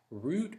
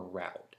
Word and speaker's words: route: Aunt, route or route. I can pronounce route either way. It's either route or route. I go back and forth.